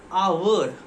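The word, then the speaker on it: hour: Starts with H. But pronunciation like a, our.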